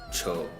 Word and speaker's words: ཆོས: Cha, naro, cho, okay? So because of the naro sound, then it gets an o sound, just like that. Cha, naro, cho.